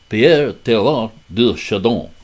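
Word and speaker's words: Pierre Teilhard de Chardin: Teilhard, as the D is silent, I remember.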